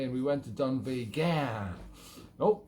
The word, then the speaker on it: Dunvegan: The Braes of Dunvegan. Yes, I was just up to the Isle of Skye visiting from US of A, and we went to Dunvegan.